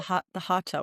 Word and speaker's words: hatha: hear it called hatha, but Mm, technically it's spelled hatha with a th, but in Sanskrit you would mm, say hatha.